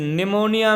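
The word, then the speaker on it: pneumonia: तो पॉलीप्लूरो या पॉलीनमोनिया like organism निमोनिया में भी पी साइलेंट होता है।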